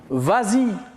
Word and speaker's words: vas-y: verbe aller à l'impératif on dit vase c'est ça la vraie conjugaison mais comme il est suivi d'un pronom on ajoute le s pour faciliter la prononciation et on dit vas-y très bien on passe